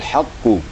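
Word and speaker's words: حق: Kemudian bal huwal haqqu, di ha dengan qaf berdekatan. Jadi berdekatan sekali nih ha dengan qaf, huruf halak dan huruf qaf. makhrajnya berdekatan sedikit ya. Di maka hati-hati kita waktu bacanya.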